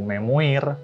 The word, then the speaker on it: memoir: Ya, walaupun tulisannya itu memoir, bacanya memoir. A Memoir of W.S.